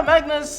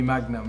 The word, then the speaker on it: Magnus: a lovely place yeah Magnus 44 a lot of people have used to have a hard time pronouncing Magnus okay people just they would end up calling me Magnum Magnum see ya but